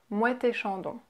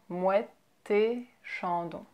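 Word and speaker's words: Moët & Chandon: Next, you have Mouette et Chandon. Mouette et Chandon. So we have the liaison, Mouette Chandon. And we pronounce it as if it was just one word. Mouette Chandon.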